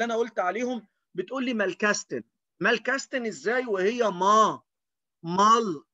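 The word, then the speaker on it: Malkasten: طيب صندوق التلوين زي العلبة اللي قدامك دي اسمها مالكاستن. الناس اللي مصممة تتجاهل الخمس حروف اللي أنا قلت عليهم بتقول لي مالكاستن، مالكاستن إزاي وهي ما مال كا كاس تن.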